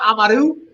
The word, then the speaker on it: Amaru: My name's pronounced Amaru. Nobody had the head. People have been asking me, so just to make it clear, you roll the R.